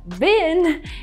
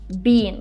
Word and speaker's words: been: Here I think it's interesting the way the girl says the word been in English because it sounds exactly the same as, for example, rubbish bin. The exact same pronunciation. And this pronunciation of this word bean, I mean not bean, but bin, is the American one. Because in British English, people would say bean.